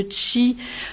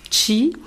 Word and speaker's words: qi: entre en fait le tchi veut dire qu'ils ce qui s'écrit qi mais qui se prononce çi veut dire énergie souffle